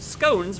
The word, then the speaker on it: scones: Oh, Marchhead informs me that in educated circles, scones rhymes with bones, not Like, I don't know.